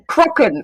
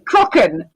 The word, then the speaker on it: Kraken: Crocken. Crocken. Crockens how it's supposed to be pronounced.